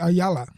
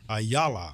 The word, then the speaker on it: Ayala: How do you pronounce those Hispanic names? They kill me. Paulie Ayala. Ayala.